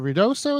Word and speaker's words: Ruidoso: Is it Ruidoso is how you pronounce it?